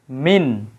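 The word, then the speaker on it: مِنَ: কিন্তু এই জায়গায় দেখতে পাচ্ছি কি আমরা লেখা মিনা মিনা হ্যাঁ এই জায়গায় ছিল মিন নুন সাকিন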